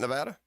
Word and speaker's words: Nevada: state right is that Nevada okay Nevada Dan you actually pronounced it correctly I can't believe it